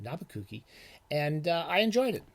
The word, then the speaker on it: Nabokov: Or as we call him, as it's properly pronounced, and Brian Boyd makes the argument in this, Nabucco. It's pronounced, actually properly pronounced Nabucco.